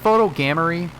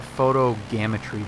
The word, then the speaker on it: photogrammetry: It doesn't look like this is Is it photogammery? Is that how it's said? Photogammery? I've said photogrammetry before, and I don't think that's right. Oh, it is right.